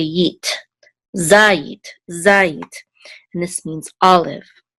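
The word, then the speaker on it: זית: And this is a zayin with a patak, which says za, and this first syllable has the accent mark because of this trope mark right here, za.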